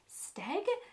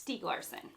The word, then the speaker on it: Stieg Larsson: In my haul video, I didn't know how to say his name, and I was like, Steg? Which was like the same pronunciation, just said more hesitantly, but I found out it's Stieg Larsson.